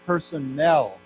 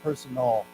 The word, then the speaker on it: personnel: my personal opinion but here this is Personnel it's pronounced differently so Personnel not personel okay so personel one